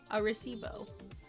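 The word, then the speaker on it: Arecibo: How do you pronounce it? Oh, it's close. Arisebo. Arisebo. Arosibo. Arisbo. Aibo. What did I say? Arisebo.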